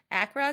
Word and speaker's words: Accra: is the founder of Bloom bar over in Acra Ghana is it did I say that right